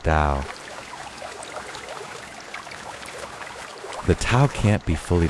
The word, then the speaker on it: Tao: It's about flow, about aligning with the natural rhythm of life, which Lao Tzu calls the Tao, pronounced dow.